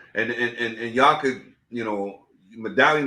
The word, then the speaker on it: Medallyun: And y'all could, you know, Medallion is spelled different. It's MEDALLYUN, like medallion.